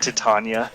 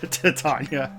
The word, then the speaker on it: Titania: like she got Titania oh not to Tanya Titania Titania is in The Simpsons but it's spelled the same way I see Titania did